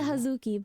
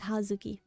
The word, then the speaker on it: Hazuki: it hazuki or huki so I pronounce it hazuki but a lot of people do like to long it like hazuki yeah people are like